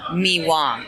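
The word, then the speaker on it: Mì Quảng: So they have a dish in in central Vietnam called Mi Wang. It it's spelled like Miqang or Miang, but it's pronounced Miwang.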